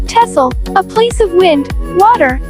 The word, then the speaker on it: Texel: Number 4 is the island of Texel, pronounced Texel, a place of wind, water, and wide open spaces.